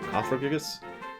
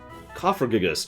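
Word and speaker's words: Cofagrigus: up there it is is apparently how that's pronounced whatever fabricus coprocess because it should be like coffin but copper gigas just sounds weird it sounds like i'm stuttering covergis excuse me i'm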